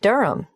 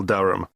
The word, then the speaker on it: Durham: Of course, I should know that, but it's just one of those names that sounds quite different from the way you spell it.